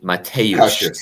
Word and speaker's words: Mateusz: Guys, please pronounce it properly. Mateusz Cash. Mateusz. Yes.